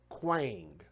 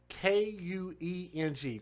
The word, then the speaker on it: Kueng: Now, this individual's name, I had trouble pronouncing his name, J. Alexander Kueng, K-U-E-N-G, Kueng, J.